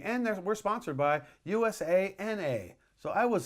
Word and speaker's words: USANA: for today is there is a sponsor called USANA okay Susanoo was a sponsor at one of